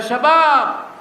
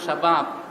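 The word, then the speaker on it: شباب: কি পরে ডাকতেছেন ইয়া শাবাব আরবিতে বলে সাব্বন মানে যুবক আর বহুবচন হলো শাবাব আর আরবের মানুষ এটাকে ব্যঙ্গ উচ্চারণ করে বলে শিবাব আরবি শব্দ হলো আন্তা আরবের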